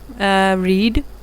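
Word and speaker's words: read: रीड, सिर्फ इसको pronounce करते हैं, रेड स्पेलिंग नहीं लिखते, तो इसलिए बी ऑप्शन आप के जहन में अगर है तो वो नहीं आएगा, डी आएगा। रेड इसको प्रोनाउंस करते हैं लेकिन सिर्फ स्पेलिंग इसके रीड वाले हैं।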